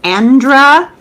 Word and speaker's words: Andra: Her name is Andra Watkins, and it's spelled like it sounds.